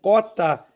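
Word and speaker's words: quota: espero das duas maneiras mas a pronúncia é uma só eu só posso eu só devo dizer cota é a palavra 14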